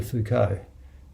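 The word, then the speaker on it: Foucauld: to you first the prayer of charles de fuko you could check out who charles de fuco was his surname is spelled f-o-u-c-a-u-l-d this prayer it's a beautiful prayer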